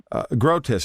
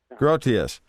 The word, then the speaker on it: Grotius: I can't think of his oh Hugo um grotus is that how you say his name Marshall grus gr yeah grotius he I just I just have a quote